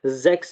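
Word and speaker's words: sechs: और इसी तरह से the combination C एच एस is pronounced like English x. For example हमारे पास हमने जर्मन की काउंटिंग में जो है जेक्स पढ़ा, ठीक है। यहाँ पे हम इसका साउंड जो है वो एक्स की तरह, मतलब सीन सा एक्स, ठीक है।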